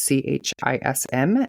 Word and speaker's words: Chism: So this week I am doing Philip Chism, I believe is how his last name is pronounced. It's Chism, and Colleen Ritzer.